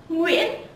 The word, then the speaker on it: Nguyễn: Nguyễn.